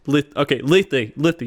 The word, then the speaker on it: Lithy: Lifey, Lithy, that's how you say his name.